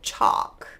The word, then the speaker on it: chalk: not going to be they're just going to be pronounced with a vowel sound so starting off we have Chuck talk walk you could move it backwards and go chalk talk walk but that's a little